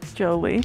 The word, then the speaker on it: Jolie: Like a Jolie bean? Jolie bean? Jelly bean, you know? Oh, not jelly. Jolie.